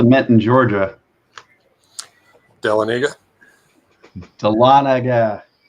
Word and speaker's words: Dahlonega: in Georgia tell Anita Dahlonega it rhymes like is rise with Talladega della Nagy United tell